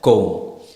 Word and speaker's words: comb: And the letter B is usually silent after M and the end of a word. Example, നമ്മൾ തലമുടി ചീകിന് ചീപ്പിന് പറയുന്നതാണ് comb. So we never say comb. B pronounce ചെയ്യത്തില്ല. The B is silent there. So it's pronounced as comb.